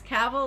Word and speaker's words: Cavill: It's Cavill, like travel.